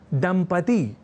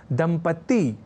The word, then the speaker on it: दंपति: दंपति इस शब्द को लिखने और उच्चारण के क्रम में लोग दंपत्ति या दंपत्ति जैसे प्रयोग कर दिया करते हैं।